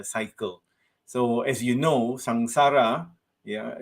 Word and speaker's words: samsara: so as you know samsara yeah we pronounce it with an ng rather than m sound as sangsara and it has been